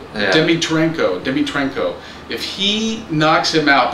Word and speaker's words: Dimitrenko: Yeah, all these names, I can't even pronounce them. It's Dimitrenko. Yeah. Dimitrenko.